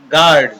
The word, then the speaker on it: guard: GUARD, यहाँ पर U A दोनों के उच्चारण को मिलकर के आ बनता है, तो यहाँ पर इसको पढ़ेंगे हम गार्ड।